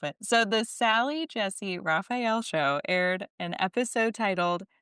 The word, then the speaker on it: Raphael: Raphael I love that you don't know how to say it because you don't know the show apparently.